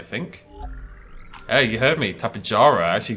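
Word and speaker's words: Tapejara: the tabajara i think hey you heard me tapijara i actually pronounced it correctly for the first time in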